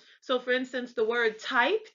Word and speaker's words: Typ: So for instance, the word type, Type in English, the German word for that is Typ, but it's pronounced typ, not type.